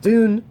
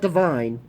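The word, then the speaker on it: Dvne: But Dune, which is the name of this album, not Divine, Dune. The V is supposed to be like a U, like churches in some certain black metal places.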